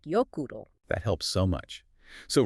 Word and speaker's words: Jökull: A is pronounced like ow, as in cow. Ow. And O is pronounced like oo, as in zoo. And that's the key to Jökull and Snæfellsjökull. It's more like Jökull.